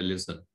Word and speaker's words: listen: आपने इसे spelling complete नहीं की लिसन की, LISTEN होता है लिसन, टी इसमें साइलेंट होता है, LISTEN।